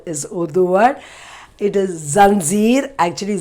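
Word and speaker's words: ज़ंजीर: The nukta, we say that as nukta, so it has a dot, but in Hindi we have changed it to janjeer, but otherwise it is zanjeer, the exact pronunciation.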